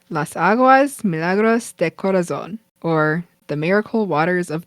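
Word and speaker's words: Las Aguas Milagros de Corazón: It's called Las Aguas Milagros de Corazon, or the Miracle Waters of the Heart. He also says it a lot wider. Okay, I'm gonna do my best. Las Aguas Milagros de Corazon.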